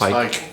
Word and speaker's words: Hike: Help me pronounce this. Is that Hike? Hauk? It's Hike. Hike, thank you.